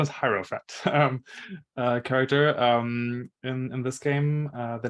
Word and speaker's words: Hierophant: The pronunciation is Hierophant character.